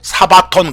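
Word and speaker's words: σάββατον: 또 그리스어로는 이렇게 쓰고 사바톤 그러고, 영어로는 S-A-B-B-A-T-H, Sabbath라고요.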